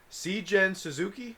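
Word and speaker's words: Seijun Suzuki: Seigen Suzuki is how I pronounce it.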